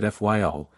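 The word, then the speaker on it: Fayal: people there pronounce it fyl and put the Accent on the first syllable we anchored in the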